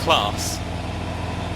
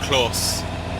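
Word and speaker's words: Claas: So I don't know which is louder, the Ford or this class, or Klaus, as I've been told it should be pronounced, I think.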